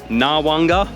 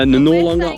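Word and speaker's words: Noarlunga: staying at Lawanga and Port Lawanga and Port Narwanga. See, I stuffed it up again. So Norlunga, Wanga.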